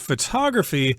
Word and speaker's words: photograph: resulting product is called a photograph with the accent on the first syllable but in the word